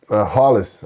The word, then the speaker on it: Rolles: them how you what you named your son hollis i h-o-l-l-i-s which is exactly how your name is pronounced announced but you spelled out so you